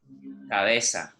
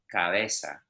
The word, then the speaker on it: cabeza: Cabeza. Again, I almost don't pronounce the B. Cabeza.